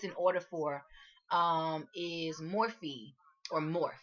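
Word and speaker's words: Morphe: order for um is morphy or morph I think it's morph as in to morph to change to transform but it's spelled m o are pH so I don't know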